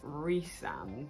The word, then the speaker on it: Rhysand: First of all, I don't understand the pronunciation, so I've looked it up, and apparently it's Rhysand, but I've been saying Rhysand in my head the whole time, and I think that sounds better.